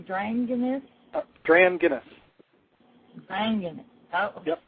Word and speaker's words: Dranginis: dragoness are you there yes thanks for having me on ok now how do you say your last name drained in this DRAM get us banging oh good welcome anyways